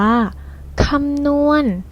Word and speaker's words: คำนวณ: ตัว สะกด นะ คะ คำ นี้ เรา อ่าน ว่า คำนวณ หรือ หมาย ถึง กระ